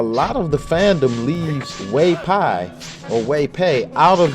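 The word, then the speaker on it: 韋白: And but the actor Wei Pei, and I'm pronouncing it wrong, but the actor Wei Pei, or in Mandarin Wei Pai.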